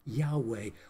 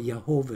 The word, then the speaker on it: Yahweh: sacred name of God, which is Yahweh, or Jehovah, as some like to pronounce it, which is not as accurate.